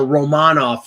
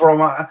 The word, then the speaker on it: Romanov: Or Romanov, apparently that's how he's pronounced. Oh, now it's Romanov.